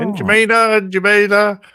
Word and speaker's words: N'Djamena: You know how to pronounce that. Yeah, I've spoken to them on the HF often enough. Oh, N'Djamena.